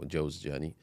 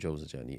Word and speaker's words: Jawzjani: So his student Abu Sulaiman al-Juzjani, or Jawzjani, whichever way you pronounce it. So there's 2 dhabts of it. Some people have mentioned Juzjani, some people have mentioned Jawzjani.